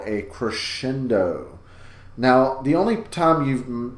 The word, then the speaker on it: crescendo: he uses the word crescendo in that song it is pronounced crescendo it gets the kind of that SH sound in there so make sure you're